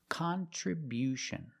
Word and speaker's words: contribution: It's not con. It's not the short sound. It's con con. We use the short a sound like hot and stop. Con. Contribution. The other vowels stay the same. Tri and few, but the stress is different. Contribution. We see at the end with t io n you hear the sound sh like she and shu.